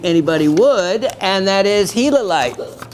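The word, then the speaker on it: gilalite: would and that is hilite pronounced as like the hila monster if you have ever been out to Arizona it is one of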